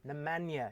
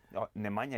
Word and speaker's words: Nemanja: you on the tv it was always nemanja namanya even now with nemanja matic nemanja is right nemanja was wrong the manjo was wrong okay yeah just say it properly for me now nemanja vidic that's how it